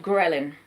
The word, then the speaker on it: ghrelin: It's called ghrelin.